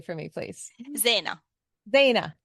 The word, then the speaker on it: Zeina: And there's 2 syllables or 2 vowels in the middle. So that always kind of throws me out.